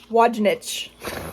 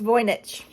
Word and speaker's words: Wojnicz: I'm reading, have to correct my brain from pronouncing it Wojnicz or something in my head. It's Wojnicz.